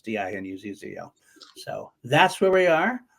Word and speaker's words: DiNuzzo: I say DiNuzzo because that's the easy way to spell it. It's DINUZZO.